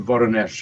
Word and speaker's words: Voronezh: who lived and worked in the city of Voronezh. I know I'm pronouncing it wrong.